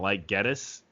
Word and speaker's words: Geddes: What's funny is it is pronounced Geddes. Up like if you look throughout like my family's history's name, but my grandpa didn't like Geddes the way it sounded. Well, it sounds like get us.